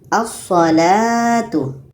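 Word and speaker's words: الصلاة: Kalau kita baca menjadi asalatu asalatu. Oke. Jadi lamnya tidak kita baca terus masuk kepada huruf yang bersyaddah.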